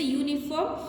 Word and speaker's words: uniform: When you say uniform, when we pronounce it will come like Y.